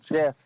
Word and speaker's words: GIF: It's pronounced Jif. Jif. Jif? The peanut butter or GIF as in the picture?